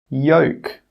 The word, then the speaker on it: yolk: The letter L is normally not pronounced when it's after the vowels A, O, and U. Some example words are walk, half, calf, yoke, could. In all of these words, we are not pronouncing that L sound. The L is silent.